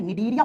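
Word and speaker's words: Cnidaria: दूसरा जो फाइलम होता है उसको लिखते है सी से प्रोनाउंस करते है तो एन से करते है निडरिया फाइलम।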